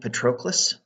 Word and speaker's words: Patroclus: They're sent, and with Achilles is his friend Patroclus.